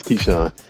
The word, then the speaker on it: Keyshawn: should have came up how do you say your name bro it's Keyshawn Keyshawn okay Keyshawn man I